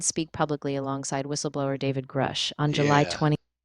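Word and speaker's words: Grusch: So, while Burchett is amplifying the call for disclosure, Grush is the name really driving that whistleblower momentum.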